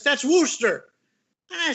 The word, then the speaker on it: Worcester: that's not a wooster i said they got a wooster in ohio w-o-o-s that's warchester he says no it's not it's wooster like what the hell's wrong with you people in boston can't you pronounce pronunciate anything correctly but that was the worcester